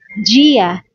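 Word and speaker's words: dia: a woman na yang Gia Gia day yung pagpronounce ng d is parang G G G naman yung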